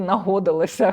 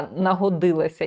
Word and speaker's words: нагодилася: слові вжитку, що мені довелося дивитися в словнику, як правильно робити наголос у слові нагодилася, тому що нагодитися, мені хотілося сказати нагодилося, хоча, ну, тому що годити, я не знаю, чи ще щось, а нагодилася.